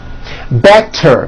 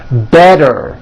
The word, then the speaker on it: better: So if a letter T falls between 2 vowel sounds, which are voiced, so if it falls in the middle of vowels, then the T is pronounced as a D and the whole word is voiced.